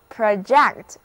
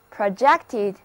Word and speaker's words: project: 让我们还是回到 GECT 这个词根吧，它表示头。如果我们在它的前面加上 PRO 这个前缀 ,PRO 表示向前。所以向前投射 project P-R-O-G-E-C-T 就是投射发射，这个时候它是动词，字母 O 的发音是短的 a，而重音在第二个音节 project，短语 project an arrow， project an arrow 就是表示投出一支箭。那我们上课的时候老师用幻灯机把幻灯片投射到屏幕上，这个就是 projected the slide onto a screen. Projected the slide onto a screen.